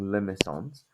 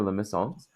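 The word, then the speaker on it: limaçon: talked about these being limones um it's very fancy right it's French so um the this is a li and there's a soft C that's why there's CA under the C so a Limon is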